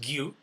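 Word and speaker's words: 牛: This is the kanji for cow. So that means that's pronounced gyu.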